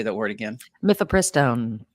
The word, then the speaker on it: mifepristone: Mifepristone. Mifepristone.